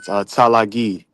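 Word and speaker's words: Tsalagi: was uh it's it's spelled TSA l a g i talagi they said that was another way but they also said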